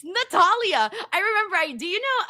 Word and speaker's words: Natalia: It's not what we prefer. It's what her name is. Yeah, what's her name? It's Natalia.